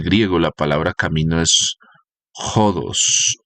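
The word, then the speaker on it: ὁδός: Y Jesús usa este elemento, la palabra camino, que viene del en el griego, la palabra camino es jodos o jos, s. Jodos, listo. Jodos es la la pronunciación de la palabra jodos.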